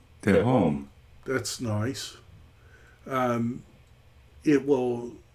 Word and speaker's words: Tehom: You look up this word, tehom, and I'll try to do it in Logos.